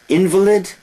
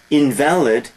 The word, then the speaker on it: invalid: letters to him thousands invalid known a person who cannot walk invalid adjective opposite of valid two different pronunciations same spelling homonyms I think such features